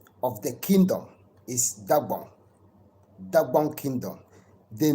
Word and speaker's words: Dagbon: Dagbon is the original name, Dagbon Kingdom. And you know, those who don't know how to pronounce the Dagbon, they call it Dagomba.